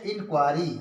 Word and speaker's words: inquiry: इसी तरह से है इंक्वायरी, INQUIRY, इंक्वायरी मीन्स होता है जांच या छानबीन।